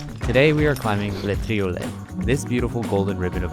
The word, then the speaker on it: Le Triolet: Today we are climbing Le Triolet, this beautiful golden ribbon of ice right here. I spent the first half of this trip pronouncing it Le Toilet, simultaneously thinking that that couldn't be right, and obnoxiously correcting my